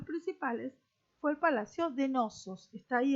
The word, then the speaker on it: Knossos: fue el palacio de knossos que está ahí el nombre que se escribe con una sede principio que no se pronuncia acá tenemos restos de